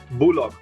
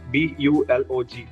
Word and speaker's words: Bulog: which is why Indonesia has an entity called Bulog. It is spelled out as B-U-L-O-G, Bulog, which is a government state-owned enterprise that actually collects the rice from farmers.